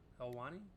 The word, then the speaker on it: Helwani: Helwani, however you pronounce it.